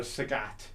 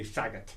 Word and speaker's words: Sagat: next guy might not I've always pronounce a uh the guy from Street Fighter a Sagat where next guy might say sagot you yeah yeah yeah